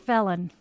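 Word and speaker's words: Phelon: And one of the kids' names was spelled P H E L O N. Yes, it was pronounced felon.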